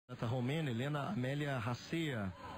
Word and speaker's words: Racea: Rom Helena Amélia Raia seguir a pronúncia do locutor de Glasgow, né? Então é Ratia, Helena Mélia Raia da